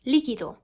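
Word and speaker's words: líquido: is correctly pronounced rojo or liquido which is correctly pronounced likido also the o sound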